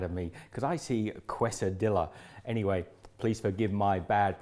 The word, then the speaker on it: quesadilla: When we see 2 L's, we have to go 2 L and back not to pronounce them.